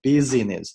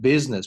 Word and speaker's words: business: 把整篇文章呢先阅读一遍。好，我们来看一下第一部分。The climate for doing business improved in Egypt。这一块呢，我们要注意有几个单词。The climate 这个 t 呢比较弱，不要读成 the climate。OK？For doing business 这个单词注意，不是念 business，念 business，这个 i 是不发音的。Business improved，不要读成 improved。OK？Improved in Egypt，这个 t